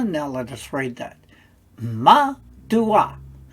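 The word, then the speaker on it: מַדּוּעַ: the dot so now let us read that ma dua ma dua meaning for what reason in other words why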